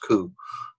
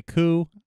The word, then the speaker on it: Gu: I think it looks like it's spelled Gu and it's pronounced Ku, but anyway, those are two objects in addition to the pictures. I call it goo. I heard someone say goo, and I've heard someone say coo.